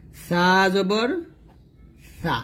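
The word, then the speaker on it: ث: আর সাটা আমি এখানে মাখরাজটা লিখি, সা জিহ্বার আগা কোথায় লাগবে, উপরের দাঁতের আগাতে লাগবে। আপনার একটু লেখাগুলো বুঝে নেবেন, আগাতে লাগবে, আপনার নোট করে নেবেন এগুলা। তো সাটা যখন উচ্চারণ করবেন পাতলা করবেন, পাতলা বাতাস বের হবে।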